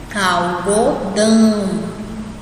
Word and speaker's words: algodão: saindo pelo nariz, mas quando você fala dão, você sente que sai um pouquinho pelo nariz, né? Então, vamos pronunciar só essa palavra aí, pronuncia depois de mim. Algodão. Sentiu que saiu pelo nariz?